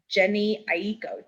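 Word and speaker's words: Jhené Aiko: and i hope i say her name right jenny aiko j h j h e n e a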